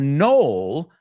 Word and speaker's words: knoll: And a knoll, K es una K muda. K-N-O-L-L, knoll, knoll. La K no se oye como knife, como no, como need.